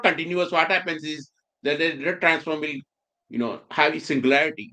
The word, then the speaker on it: Legendre: then you have like how do you say Legendre transform? Legendre. I think I'm saying it wrong. It's French, so I was saying Legendre.